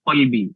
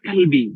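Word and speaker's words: قلبي: Kalau orang Arab itu manggil wahai sayangku itu ya qalbi, wahai hatiku. Oh my heart gitu kan kalau bahasa Inggrisnya. Nah, kemudian karena kita pengucapan qafnya itu tidak sesuai dengan makhrajnya, kita macamnya ya kalbi gitu.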